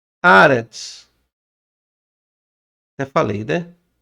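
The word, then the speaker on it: ארץ: Aretz. Já falei, né? Ó. Aretz. Ó. Transliteração. De cima para baixo, direito para esquerda. Ó, temos aqui o Aleph, que é mudo.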